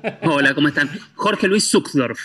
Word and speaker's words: Sucksdorf: Jorge, es Jorge, ayúdame a pronunciarte bien el apellido. Hola, ¿cómo están? Jorge Luis Zuckdorf. Zuckdorf, Todo, todas ahí las está.